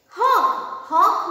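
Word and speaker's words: hark: tower of the mask hawk means listen what is meant by hawk listen it is not har r is silent here okay it is the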